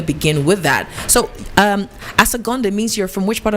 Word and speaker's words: Asogonnde: So the name is, you're going to help me pronounce the last name. Asogonnde.